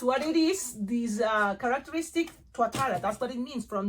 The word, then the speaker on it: Tuatara: So that's what it is, this characteristic Tuatara.